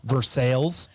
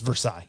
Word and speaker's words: Versailles: It's Versailles. Yeah. That's how it's supposed to be pronounced, but Versailles here in Missouri.